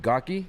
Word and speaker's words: Gohlke: Goki?